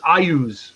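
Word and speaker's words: Iuz: There actually was a pronunciation guide in Dragon Magazine in the early 100s. It's Ayus, apparently.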